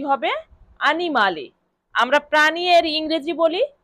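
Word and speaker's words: animale: আনিমালি। আমরা প্রাণী এর ইংরেজি বলি এনিমাল। হ্যা। ইংলিশ ভাষায় কি বলি? এনিমাল। কিন্তু এখানে দেখুন ইতালিয়ান ভাষায় বলা হচ্ছে আনিমালি। মানে কিছুটা কাছাকাছি। এনিমাল আর আনিমালে তাহলে প্রাণী অর্থ ইতালিয়ান ভাষায় কি হবে?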